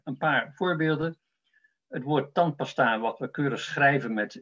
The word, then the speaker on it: tandpasta: En die tweede A is onbeklemtoond en kan je dus ook als een schwa, als een U uitspreken, tandpasta.